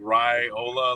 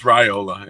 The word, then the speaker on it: Raiola: sounds it's right like they always put like Rye Ola like I know there are harder names in the roster to pronounce but it's raiola yeah okay you gotta